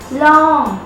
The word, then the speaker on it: ลอง: ลองได้ไหม ลองได้ไหม Long. It's pronounced like an English word long.